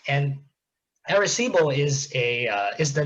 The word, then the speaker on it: Arecibo: It's something called, I believe it's pronounced Arecibo message, and Arecibo is the name of